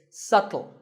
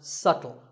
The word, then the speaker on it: subtle: you say it it's subtle the B is silent subtle means something that is difficult to notice or something that isn't obvious and once again the word is pronounced subtle another popular word with